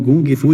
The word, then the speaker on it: gung fu: o mesmo significado porém quando escrita com g a palavra faz referência a pronúncia em cantonese quando se usa o cá a forma mais conhecida é indicativo da pronúncia e guardar em sete